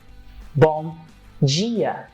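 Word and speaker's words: bom dia: always tell people that the vowels I and II will be your troublemaker because we will change some of the consonant sounds that follows them in this case you have the I and it sounds like Jean and it happens the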